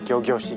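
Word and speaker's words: ギョギョシ: Yes, gyogyoshi, gyogyoshi. Right. That's how you say it in Japanese.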